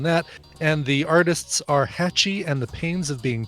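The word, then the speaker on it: Hatchie: H a TCH ie catchy I get it catchy like trying to open the hatch e unlost I get it check this out yes there's something very hacci about the odor that's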